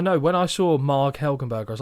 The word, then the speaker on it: Helgenberger: When I saw Marg Helgenberger, I was like, they must have said that wrong.